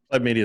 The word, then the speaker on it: Pleb Media: Pleb Media is fine. Yeah, Pleb. I'm not that picky about it. Everybody pronounces it different and always worries that I get offended.